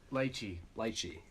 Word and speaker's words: lychee: Lychee.